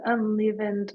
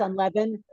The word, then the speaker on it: unleavened: I just thought it was unlevened like flour. Well, flour is by definition. It's unleavened. No, it's pronounced unleavened, but the flour by itself is neither leavened or unle.